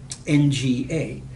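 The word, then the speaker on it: nga: is that it has this NG sound at the beginning of a word so the word for you is not mga now the ng sound is very familiar in English we have an all over the words sing bring on whatever what we don't have is that same sound at the beginning of the word if you speak Indonesian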